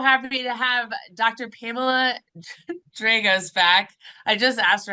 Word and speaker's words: Dragos: Pamela Dragos back. I just asked her how to pronounce her last name again, how she prefers to have it pronounced. So it's Dragos.